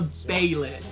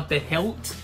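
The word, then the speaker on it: Behelit: It's called the baylet. Now, the last two videos I've been calling it a behilt. I know I'm wrong.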